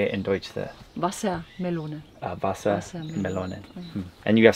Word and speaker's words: Wassermelone: Wassermelone.